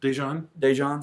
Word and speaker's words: Daejeon: Daejeon, South Korea.